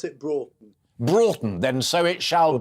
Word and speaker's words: Broughton: We pronounce it Broughton.